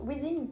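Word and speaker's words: Withings: Comment ça se prononce? Weezings? Weezings.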